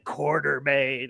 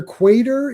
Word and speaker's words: Quatermain: it's just like it's and they're adding an R there's no R after the A yeah, it's not quarter. Quarter like it would be either quater if depending on how